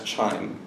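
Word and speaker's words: QIIME: see their logo at the upper right that's chime first of all how many people knew before today that it's pronounced charming right Qi does not always strike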